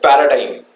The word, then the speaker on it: paradigm: You can also call it as paradigm. Paradigm. That's how you pronounce paradigm, right?